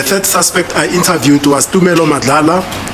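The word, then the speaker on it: Thala: suspect I interviewed was tala it's spelled with a th tala who was traumat who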